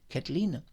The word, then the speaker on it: Kathleen: demande à Kathleen, donc je vais bien prononcer son nom anglais, Kathleen, il lui demande les